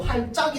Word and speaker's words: 할짝: 그래서 할 플러스 작거리다라고 했을 때이 할작이라고 하면은 티귿은 발음 안 되고 할짝이 된단 말이야.